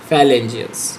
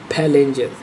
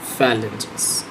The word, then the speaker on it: phalanges: फेलेंजियस है ये, फाइलेंजियस, phalanges, not phalanges, phalanges.